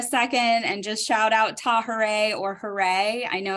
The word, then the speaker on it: Tahirih: remember how to pronounce tahere so if you say hooray and then put a Taw at the beginning of it tahere that's how the name